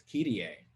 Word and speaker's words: Kyrie: poem in 2008, and I have always pronounced this word as Kyrie, but I recently learned that it's actually pronounced, or it can be pronounced alternatively as Kyrie.